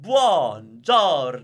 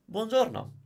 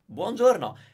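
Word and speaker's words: buongiorno: you watch that video I say every vowel has the same weight you don't have to do like the ones or know where you're overly pronouncing them Bonjour now don't do that Bongiorno Bongiorno it sounds good because of all the vowels okay so get your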